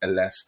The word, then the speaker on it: Ellesse: I call it Ellesse, but he corrected me and it's actually pronounced Ellesse.